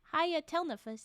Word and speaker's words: Hayatelnefus: Hayatelnefus. There you go. That's the pronunciation. We gotta take a second. It's just a lot of consonants, okay? As well as 3 vowels in a row.